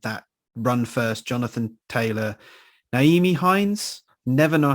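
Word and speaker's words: Nyheim: Kind of they have a habit of getting away from that run first, Jonathan Taylor, Naeem Hines, never know how to pronounce his first name. Naeem Hines, there we go.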